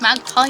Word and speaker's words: MagPi: magazine yes from magpie uh pronounced magpie magpie my p.i.g oh nevermind